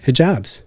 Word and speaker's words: hijab: I don't know much about the Muslim faith, including why many Muslim women wear hijabs.